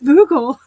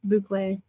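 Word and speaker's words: bouclé: It's soft, but you can like feel boucle. Thank you, Nancy. Buckle. I'm so uncouth. I have absolutely no class. It's buckle.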